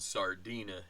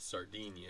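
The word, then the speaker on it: Sardinha: Well, I just looked it up and Sardina is how you pronounce it. Not Sardinia. It's not the uh not the uh Brazilian or Portuguese way.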